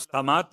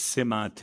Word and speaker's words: سمات: اول تو اس کا تلفظ سمات نہیں ہے، یہ اس سمات ہے، تین کے نیچے زیر ہے.